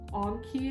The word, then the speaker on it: Anki: So I think Quizlet and like Anki, I believe it's pronounced, are really great websites to use.